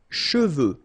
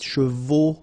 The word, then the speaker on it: cheveux: Usually this one is a bit of a problem because some of the students normally pronounce it chevaux, okay? So try to keep in mind that you get E-U here, so it goes like okay?